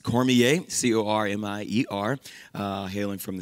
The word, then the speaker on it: Cormier: we are the cormiers uh and that is pronounced cormier c-o-r-m-i-e-r uh hailing from the south uh cajun